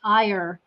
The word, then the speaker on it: Iyer: I have got Pat Iyer with us today, or if you're American, it's Iyer, is how we pronounce that, I-Y-E-R.